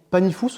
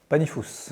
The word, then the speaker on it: Panifous: Alors, on dit Panifous ou Panifou? Panifous. Oui, non, que ce soit Comme bien clair. beaucoup de lieux en Ariège, de villages ou de noms, on aime bien prononcer la dernière lettre.